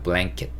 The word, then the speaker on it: blanket: blanket, blanket 이렇게 cat이 아니고 kit, blanket 이렇게 발음하시면 되고, 저 담요가 필요해요 라고